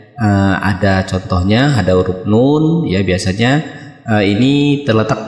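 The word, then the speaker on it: نون: yang pertama Nun Nah jadi ini bukan dibaca na ya teman-teman atau dibaca Nun nah ee tapi dia dibaca dengan panjang tiga ayunan atau enam harakat saya contohkan lagi Nun Nah itu ya cara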